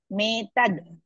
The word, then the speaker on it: मेतद्: सूत उवाच सूत उवाच माहात्म्यमेतद्गीतायाः माहात्म्यमेतद्गीतायाः माहात्म्यमेतद्गीतायाः Don't pronounce medad, metad.